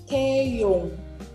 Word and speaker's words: Taeyong: Jadi ada 2 nih, sebagai pelengkap dan sebagai huruf NG atau Nah, jadi ini bacanya adalah Taeyong.